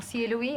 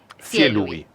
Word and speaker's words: Cielubi: Me llamo Cielubi, algunos me conocen como Cielu. Es como una acentuación en la primera sílaba. Cielubi.